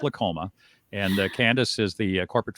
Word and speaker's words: Lolcoma: though it's not spelled that way but it's pronounced lacoma and Candace is the corporate field marketing coordinator